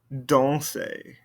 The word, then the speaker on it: danser: Danser. Danser. And then this one, because it ends in that RE, I can pronounce that R.